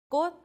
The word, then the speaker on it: 꽃: So you would pronounce these 3 consonants as 디귿. 맛, taste. 있다, there is. not, afternoon. 꽃, flower.